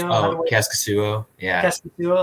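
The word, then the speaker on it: Kaskisuo: Casimir Cascasio? Oh, Cascasuo.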